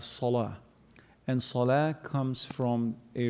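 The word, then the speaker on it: صلاة: And interestingly, the word prayer in Arabic is pronounced as salah.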